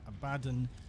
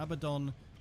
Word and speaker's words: Abaddon: And yes, I relinquish my pronunciation of Abaddon to Abaddon, despite having spoken Operator, you have remembered well how the Tenno arm themselves.